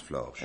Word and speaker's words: Flores: l o R s Flores et ben ça se prononce florche moi je prononce florche